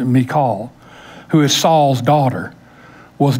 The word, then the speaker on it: Michal: Michal, which is, we usually pronounce it Michael, but it's really pronounced Michal, who is Saul's daughter, was David's first wife.